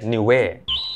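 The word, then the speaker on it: Niue: มาก ที่ จะ เคย ไป นั่น คือ ประเทศ นิเว มัน สะกด ว่า n i u e ซึ่ง มัน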